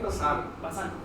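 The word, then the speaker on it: Bazin: Ya tenemos otras lesiones, que es el eritema de Bassin. ¿Por qué? Bazán. Se escribe Bassin, pero se pronuncia Bazán.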